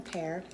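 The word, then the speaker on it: Perr: If you don't know me, my name is Pear. It's P-E-R-R, pronounced like the fruit though, and if you see the red, you know I'm live.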